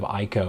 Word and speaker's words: Ico: and hope to see like a remake of Ico or Eco down the road. I think it's called Eco, pronounced Eco.